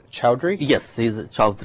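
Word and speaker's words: Chaudhry: court chief justice is his last name is pronounced chowdhury yes see the child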